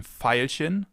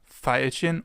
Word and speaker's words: Veilchen: It can either be pronounced like the F as in Veilchen, Veilchen, or like a V as in Violine, Violine, violin.